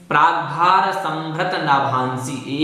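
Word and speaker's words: प्राग्भारसंभृतनभांसि: देखें, प्राग्भार संभृत नाभांसी एक पद है, आपको अलग अलग करके नहीं बोलना है। प्राग्भार संभृत नाभांसी इस प्रकार से बोलना है।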